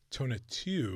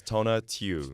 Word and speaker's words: Tonatiuh: Yes, my name is Tona Tu. Tona Tu. Yeah, the only mispronunciation that I'll accept is Tonatiuh because that's my hood name.